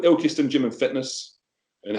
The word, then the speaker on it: Ilkeston: Elkerston? What? It's called Ilk, I-L-K, Ilk. Yeah, yeah. Ilkeston. Ilkeston. Okay.